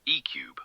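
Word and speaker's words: E³: But the core of this vehicle is Denza's exclusive E3 sports car platform, pronounced ECube, apparently.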